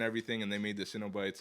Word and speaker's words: Cenobites: I say Cenobites. You know, like you know, it's like a Cinnabon.